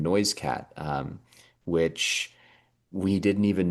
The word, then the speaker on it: NoiseCat: even more remarkable because Noise Cat was not originally pronounced Noisecat. That is actually a missionaries bastardization of my one of my family's ancestral names, Noiscuit, which was the last name of my great-grandmother, the woman who actually